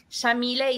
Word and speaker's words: Yamile: So Yamile is an Arabic name pronounced with an Argentine accent. We say the Y like an SH.